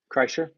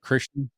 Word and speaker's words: Kreischer: Kreischer. Krishner, Kreischer.